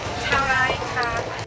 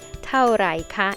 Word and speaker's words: เท่าไหร่คะ: size of this one เท่าไรคะ She's so cute. She is trying to say เท่าไหร่คะ in Thai เท่าไหร่ means how much